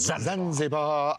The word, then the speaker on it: Zanzibar: Zanzibar.